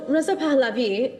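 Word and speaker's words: Reza Pahlavi: So Raza Palabi um is how he's pronounced his name.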